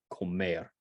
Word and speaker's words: comer: is one syllable back if it ends in a consonant it's on the last one the example they give here is Comer um right that means